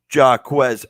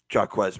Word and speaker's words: Jaquez: Jaquez missed the invite. That's Jay. We've been over. That is Jay, not Jack.